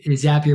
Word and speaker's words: Zapier: Yeah, we like to say Zapier makes you happier. That's the proper way to say it.